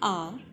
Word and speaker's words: hour: For example, an hour, an honest man. Here, the letter H is silent.